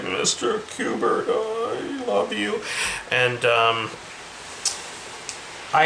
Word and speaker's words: Kubert: Or Kubert, I believe it's called, and pronounced like the video game.